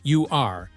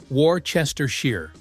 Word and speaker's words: Worcestershire: It's pronounced Woostershire, not Worcestershire.